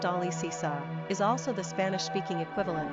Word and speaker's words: Alicia: Owing to some of its popularity in America, Alicia, pronounced Alicisa, is also the Spanish-speaking equivalent to the name Alice.